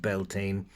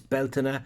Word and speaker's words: Bealtaine: butchering the Irish language it's not pronounced beltin it's Bela or you can say Bal depending on your depending on your dialect now uh a a